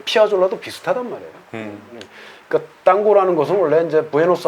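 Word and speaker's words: tango: 저 잘 몰랐었는데 그 탱고라는 음악 그리고 에버 탱고라는 음악이 클래식 고전 음악에서 이뭐 변주되는 형태인지 어 탱고 이제 고라고 해야 되겠죠 땅고 예보 땅고 어 탱고는 뭐 이제 영어식 발음이고 노예 고라고 이렇게 우리도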